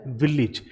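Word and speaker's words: village: तो ये हो गया मैनेज, और ये वर्ड आप देखें इसे बोला जाता है विलेज, क्योंकि यहाँ AGE एंडिंग है और ये प्रोनाउंस होता है इज।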